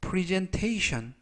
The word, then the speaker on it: presentation: 내가 머물도록 설득했다라는 뜻이 되겠습니다 이번 표현은 pres presentation pres presentation presentation이라고 발음하시면 되겠고요 끝부분에 있는 ton 네개의 철자가 동시에